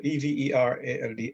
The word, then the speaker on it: Everald: I'm Everald, E-V-E-R-A-L-D. Everald is pronounced.